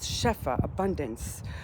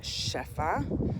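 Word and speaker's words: שפע: So the receiving that we got was shefa, abundance of blessings and abundance of miracles in the last few weeks, right?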